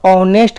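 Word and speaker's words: honest: क्योंकि इसका हम उच्चारण करके देखेंगे तो ऑनेस्ट का लिखिएगा, तो ऑनेस्ट का फर्स्ट अक्षर जो होगा अ होगा, तो अ किस में आ जाएगा?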